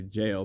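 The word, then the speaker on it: gaol: area meridian gobble or jail the proper way you're supposed to say jail but it's spelled with g-a-o-l and you're just in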